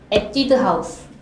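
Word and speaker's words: Etude House: 첫 번째 에뛰드 하우스. 에뛰드 하우스. 영어로 에뛰드 하우스. 근데 우리나라에서 H 그 발음 없으니까 에뛰드 하우스.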